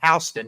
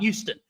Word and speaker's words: Houston: It is pronounced Hston, not Houston.